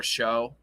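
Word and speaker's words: Shough: There goes Tyler Shuck, as the counselor calls him, Tyler Show, because it's not Tyler Shuck. That's not how it's spelled. It's not how you spell Shuck.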